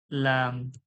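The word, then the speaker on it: لام: আছে এরকম লাম কি লাম লাম লাম সামান্য সিম্পল উচ্চারণ জীবের আগাটা সামনের যে দাঁতের গড়া রয়েছে সেই গড়ার কাছ থেকে লেগে উচ্চারণ হবে লাম লাম লাম লাম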